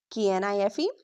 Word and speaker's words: knife: If a word starts with KN, pronounce only N. Examples. K N I F E.